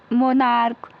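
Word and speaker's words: monarch: मोनार्क, सी एच का उच्चारण क्या है बच्चों? का है।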